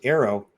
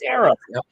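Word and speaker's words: AARO: A a now first arrow. It's good. All right. Let's face it. You know, it's the only way to pronounce it. It's not AO. It's arrow.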